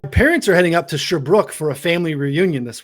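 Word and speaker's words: Sherbrooke: It's Sherbrook.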